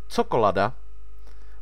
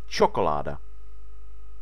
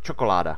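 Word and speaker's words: čokoláda: so it's not pronounced chocolada, but it's pronounced chocolada. Okay? If you add a hook above C, instead of it being ts and this word being pronounced chocolada, it's ch, and it's pronounced chocolada, and suddenly it sounds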